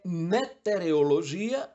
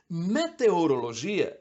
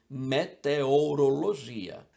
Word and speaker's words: meteorologia: a letra O é meterologia ou meteorologia meteorologia é a ciência que estuda os meteoros os fenômenos atmosféricos Então é só associar a meteoro e você vai falar sempre meteorologia beneficiente Essa é uma